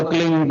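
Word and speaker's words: क्लीं: की मात्रा और बिंदी उसका उच्चारण होगा क्लिंग ग ग की निकलेगी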